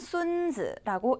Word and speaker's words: 孙子: 자, A는 보시면 순즈라고 읽는 단어입니다. 순즈. 발음이 한국어랑 되게 비슷하죠?